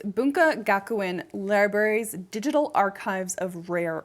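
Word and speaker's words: 文化学園: Let me pronounce it correctly. It's Bunka Gakuen Library's Digital Archives of Rare Materials.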